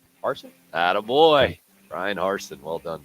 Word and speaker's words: Harsin: And how do we pronounce the new Auburn coach's name? Harsin.